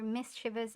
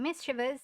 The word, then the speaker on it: mischievous: other a roguish or mischievous act. The obsolete definition being roguish mischief which also illustrates my pet peeve of people pronouncing mischievous as mischievous because it it that's wrong. It's mischievous as in mischief.